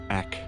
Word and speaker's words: Egg: place is, of course, its name is Eck. But that's because Germans pronounce their G's very similar to a K for native English speakers. So this is actually the town of Egg, E-G-G, and I think that's great.